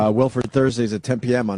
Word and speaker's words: Wilfred: And Wilfred is, am I saying it right, Wilfred? I kept saying Willard. It's so hard to not say Willard.